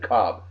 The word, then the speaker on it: Kolb: blank his name oh Kevin Cobb is spelled Kolb k-o-l-b but he pronounces it Cobb how about Kevin [